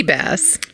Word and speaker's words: bass: how to pronounce that base boss you know sea bass you know like a bath but with a s yeah but you know